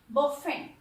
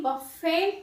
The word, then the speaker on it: bouffant: Next है बफेंट। पहले इसका प्रोनाउंसिएशन देखिए, BOUFFANT, बफेंट नहीं होगा, इसको बफे प्रोनाउंस करेंगे।